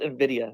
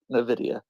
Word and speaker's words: Nvidia: what's up your eyes it's pronounced Nvidia not Nvidia oh number one number